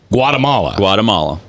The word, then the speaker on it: Guatemala: Guatemala? No. Guatemala. 3 syllables. I was trying to make 4.